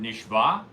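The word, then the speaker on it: נשבע: take a break okay you should make sure that you pronounce the word nishah which means that Hashem has sworn okay in order that the ion should sound pronounced and shouldn't sound like a hay because if it sounds like a hay it sounds like you've been taken captive and actually the truth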